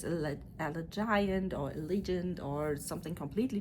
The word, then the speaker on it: Allegiant: and actually today I know how it is pronounced. It's not. I need to prepare, train that a little bit, practice it. Allegiant Stadium.